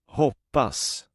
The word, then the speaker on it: hoppas: The verb to hope in Swedish contains the short pronunciation. Hoppas.